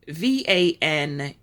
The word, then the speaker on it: Vanuatu: usbankistan and this country I'll spell it um v-a-n-u-a-t-u Vanuatu that's spelled v-a-n-u-a-t-u persons with a valid Jamaican passport